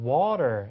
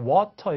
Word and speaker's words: water: 그래서 미국 친구들은 wa 거의 I에 가깝게 앞에 W 사운드 내고 water 이렇게 하잖아요. 근데 영국 친구들은 그냥 water 이렇게 하는 게 아니라 이 모음가가 아주 O에 가깝게 발음돼서 water, water 이렇게 됩니다.